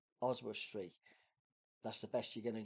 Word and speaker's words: Oswestry: go is my word I I just can't pronounce this word oswustree oswestry that's the best you're gonna get and it